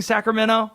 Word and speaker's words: Sacramento: By the way, pronating I'm pronouncing Sacramento the prop the proper way. I'm not saying the T.